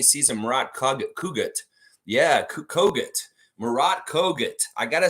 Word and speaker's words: Murat Kogut: Murat Kogut. I gotta say his name right. They have the pronunciation in there now, and I've heard Zach